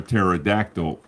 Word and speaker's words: pterodactyl: can't you hear a pterodactyl in the bathroom because they're dead no because the p is silent I can't believe I